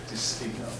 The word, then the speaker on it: Despigno: I think it's exactly as I pronounced it. Despigno, D-I, capital S-P-I-G-N-O, Despigno.